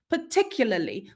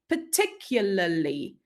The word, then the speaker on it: particularly: at the word particularly particularly we don't pronounce all the letters right we we don't even pronounce a r sound anywhere even though it appears twice in the spelling right particularly and if we want